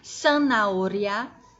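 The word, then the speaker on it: zanahoria: de tranças e sanauria escrever aqui San naolha é cenoura em espanhol e se escreve com z ou seja os itens som de s deixa eu escrever as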